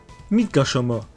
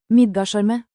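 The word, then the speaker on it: Midgardsormr: Midgarsormr. Sorry, it's a Norwegian name, that's how it's pronounced. Midgarsormr.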